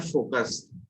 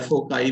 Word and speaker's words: foci: Those fixed points are called as, देखो एक word होता है फोकस, है ना, एक वर्ड होता है फोकस, उसका प्लूरल फॉर्म होता है फोकी या फोकाई भी बोलते हैं कुछ लोग।